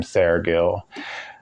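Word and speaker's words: Seregil: But finally I got a hold of somebody in the know, and they schooled me on how to pronounce his name. Syregill of Rimini and Alec of Carey.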